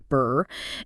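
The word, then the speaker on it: BRRRR: BR RR often pronounced just like the cold sound BR is a very popular and powerful strategy for building a rental property portfolio potentially quite quickly.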